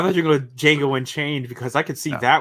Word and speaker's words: Django: It's like Django. The D is silent.